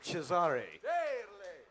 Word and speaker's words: Cesare: Caesar, or as they say in Italy, Cesare.